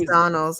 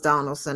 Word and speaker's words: Donalds: Oh, it is Donalds.